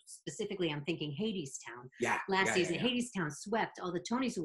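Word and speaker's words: Hadestown: don't worry I remember people even saying Hadees town heads they didn't even know what the show was how to pronounce it especially and now and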